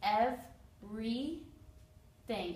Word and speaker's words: everything: how it's pronounced it's ev re thing again this y sounds like a long e everything three vowel sounds this